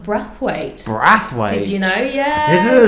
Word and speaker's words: Brathwaite: so who is Brath weight um my son's actually pronounced breath weight breth did you know yeah cuz it's basian soes from Barbados so breath weight and Barbados is like